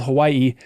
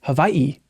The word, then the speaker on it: Hawaii: really that's right uh the W in uh Hawaiian if it's in the middle of a word it's pronounced like a V fun fact I learned